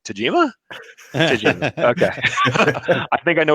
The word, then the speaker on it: Tajima: were started up is people cannot pronounce the Japanese names of most machinists yes I I cannot tell you how many people have said I got one of those tatami machines I'm like Tajima ok I think I